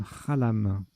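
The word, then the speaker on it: xalam: à elle à m ça se prononce même rhallam mais ça fait partie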